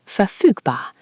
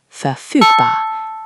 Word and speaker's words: verfügbar: Available is verfügbar, verfügbar, and busy or occupied is besetzt, besetzt.